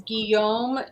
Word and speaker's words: Guillaume: full qua f-u-l-c-o-i-s and the first name is Guillaume g-u-i-l-l-a-u-m-e and his name was on the back